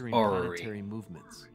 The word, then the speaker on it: orrery: I'm working on the Ori over there. I am 99% sure he just mispronounced orrery. Orrery. That's what that thing with the planets is called.